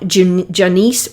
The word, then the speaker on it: Jonice: best books check out janiece webb it's hard for me to say her name it's like janus but with an o j o n i e web w-e-b-b and childhood